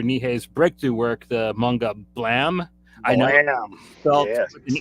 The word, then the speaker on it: Blame: about uh Mr nihay's breakthrough work the manga blam I know I am an e and you should say blame that's not how it's pronounced though like for